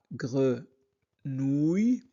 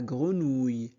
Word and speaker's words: grenouille: grenouille. O U i de L se prononce ou la grenouille.